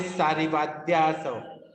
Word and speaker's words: सारिवाद्यासव: आप बोलिए सारिवाद्यासव। सारिवाद्यासव। हाँ बोल दिया ना आपने।